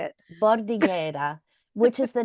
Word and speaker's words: Bordighera: I needed you to pronounce that. I was hoping you would say it. Bordighera, which is the name of a city in